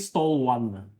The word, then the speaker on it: Stallone: So he pronounced Stallone and stall one.